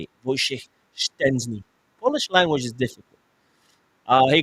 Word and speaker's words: Szczęsny: Szczęsny. There we go. Szczęsny. That's how you say it. Wojciech Szczęsny.